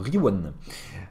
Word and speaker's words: Rion: Rion, ça se prononce comment? Riwan? Bah alors, Riwan.